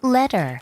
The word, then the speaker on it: letter: 저 또한 T가 어떻게 바뀔까요? 미국일 때는? Letter. letter. Letter. 맞죠? 그런데 영국일 때는? Letter. letter. Letter. letter. T 발음을 살리죠. 요것도 같이 해보고 갈까요? 미국식일 때? Letter. letter. 한 번 더. Letter. letter이 되겠고 영국식일 때는? Letter. letter. Letter. letter. T 발음 살리고 R 발음 없애고가 되겠습니다.